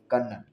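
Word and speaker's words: colonel: कर ले आप सीओ एल ओ एन एल कनन ठीक है तो ये स्पेलिंग्स भी आती है नेक्स्ट हमारे पास क्वेश्चन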